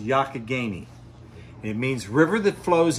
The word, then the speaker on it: Youghiogheny: do you pronounce the river the river is pronounced yakigani it means river that flows in a roundabout